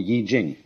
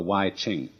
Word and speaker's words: I Ching: extraordinary classic of China, the Book of Changes, called the Yi Jing, not the Wai Ching.